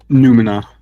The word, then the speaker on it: Numina: Numina, like phenomena.